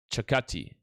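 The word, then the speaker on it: Circati: So that's Alessandro Saccaci. Saccaci. It's Chi at the end. I remember he did a pronunciation of his name the other day on Instagram. Chakati.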